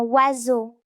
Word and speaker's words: oiseau: Dans certains mots, la lettre S fait le son Z, comme dans oiseau.